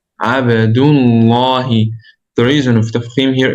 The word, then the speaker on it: عبد الله: So it's عبدullah. عبدullah.